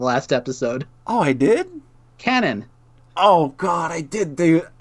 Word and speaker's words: Kanan: Kanan. No! What? This was your April Fool's joke to me, is telling me the wrong way to say her name right before the last episode. Oh, I did? Canon.